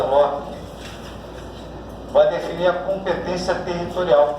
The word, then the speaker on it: loci: O critério ratione loci, escreve loci, mas pronuncia loci, vai definir a competência territorial.